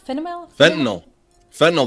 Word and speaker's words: fentanyl: So apparently, shortages of, how do you pronounce that? Fentanyl.